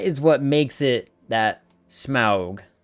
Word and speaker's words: Smaug: Smaug was what everyone called him. Smaug is what the movie did. And unfortunately, Smaug is also the proper pronunciation according to Tolkien.